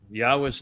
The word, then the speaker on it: Yahweh: We are the first to bring Yahweh's name, the proper pronunciation of it, to his people.